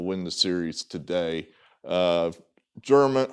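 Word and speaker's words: Germán: the series today uh german hermann i think it's how you pronounce domingo herman sounds right so it sounds more corrected domingo german that doesn't sound right so i think he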